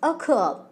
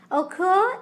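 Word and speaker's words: ochre: e although the spelling is like this the pronunciation is occur occur is an earthly pigment containing furic oxide here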